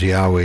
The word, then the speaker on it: Yahweh: But the correct pronunciation of God's real name is Yahweh Yesu.